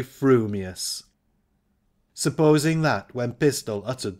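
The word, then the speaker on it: frumious: your mouth and speak if your thoughts incline ever so little towards fuming you will say fuming furious if they turn by even a hair's breath towards furious you will say furious fuming but if you have that rarest of gifts a perfectly balanced mind you will say frumius supposing that when pistol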